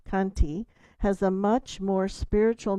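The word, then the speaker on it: khanti: Apparently the word shanti I think pr pronounced kanti has a much more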